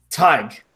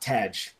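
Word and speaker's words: Tadhg: You pronounce Tag is as Tig, like Tiger.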